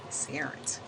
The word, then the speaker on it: SAIRNT: So that's what it spells out, and I pronounce that Sarent.